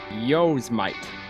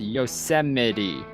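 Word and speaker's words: Yosemite: of thing when I was younger I always pronounced y yosmite or yite I don't know why but that's how I saw I didn't know was pronounced yosity I didn't know that last e was a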